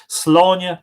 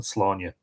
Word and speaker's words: Sláine: On Saturday, the calends of August, which is interesting because they're basically saying that it was Lunasa, Sláine landed at Inversláine.